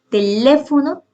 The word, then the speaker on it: teléfono: Teléfono. Teléfono tiene el acento, igual que pájaro, en la antepenúltima sílaba y se tilda. Y otro ejemplo es centímetro.